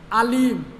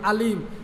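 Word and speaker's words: أليم: আর ও আইনগুর জায়গা খালি যদি হামজা লাগাই দিই আলিম, উচ্চারণ করতেও যদি না হইয়া হইলাই আলিম, তাহলে তার অর্থ হইব গিয়া খতরনাক।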